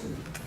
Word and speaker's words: Toomey: So our first person would like to speak, Toomey. Am I pronouncing that correctly? That's correct. Toomey. I'm sorry? Toomey. Yes, sir, okay. To you, to me. Socket to me.